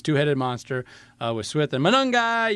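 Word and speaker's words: Monangai: And I love the way uh Chicago runs with this two-headed monster with Smith and Manungi. You got to say it like that.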